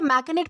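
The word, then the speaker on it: machinate: दोस्तों इसे मैकनेट प्रोनाउंस किया जाता है, जिसका मतलब होता है साजिश रचना या फिर चाल चलना।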